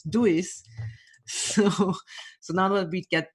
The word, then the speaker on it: Duis: established, because this is not the original Dutch, where it's from originally, not the Dutch pronunciation, but the German one, which is Duis.